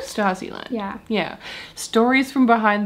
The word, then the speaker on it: Stasiland: How did you say this is pronounced? Stasiland? Stasiland.